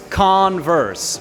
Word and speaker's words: Converse: Se dice Converse. ¿Okay? No es con, sino con. Es un poquito más abajito y Converse. La R nuevamente aquí abajo, chicos. ¿Okay? Traga la R. Ers. Converse.